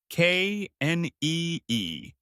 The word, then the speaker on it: knee: The word is knee. K N E E. You say knee. Like the word need but without the D.